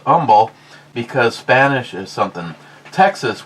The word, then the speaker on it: Humble: neighborhood I used to live in it's a humble pronounced humble because Spanish is something Texas which is on